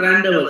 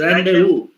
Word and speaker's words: rendezvous: No, it is not rendezvous. It is rendezvous. Random. Because after the vowel sounds, the letters are not pronounced.